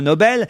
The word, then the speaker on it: Nobel: Obel IG plus loin Nobel ça se prononce comme ignoble et effectivement c'est un